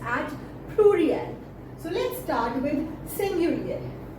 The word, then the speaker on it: pluriel: In French, singulars are pronounced at singulier and plurals are pronounced at pluriel.